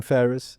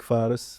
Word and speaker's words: Faris: Because I we had a conversation you had you can go Faris, Faris, It's just pronunciation in the end. You know, American Faris, Yeah. Arabic Faris.